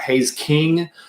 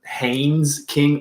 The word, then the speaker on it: Haynes King: Hayes King, as he plays for Longview out there in East Texas. Haynes King. There's an N in there.